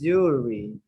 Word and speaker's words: jewelry: This is jewelry. Jewelry. This W sounds like a soft U.